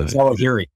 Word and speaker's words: Zawahiri: I can't pronounce his last name. Yeah, Zawahiri.